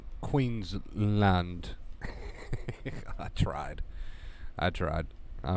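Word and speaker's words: Queensland: what it is actually aussie aussie accent it's pronounced queen's land i tried i tried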